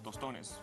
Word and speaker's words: tostones: And these are some tostones.